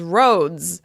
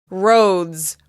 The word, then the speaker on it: roads: That means the plural of "road" is "roads," with the /z/ sound at the end. Roads, roads, roads.